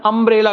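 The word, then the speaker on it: umbrella: अम्ब्रेला का उच्चारण अम्ब्रेला करके हो रहा है, इसीलिए एन लगेगा, ठीक।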